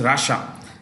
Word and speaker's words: Russia: you could learn is Rasha this is pronounced as rash and a that's the right pronunciation but we should say Russia for our people the